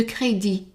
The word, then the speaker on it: crédit: et une carte de crédit. And again, the T is silent.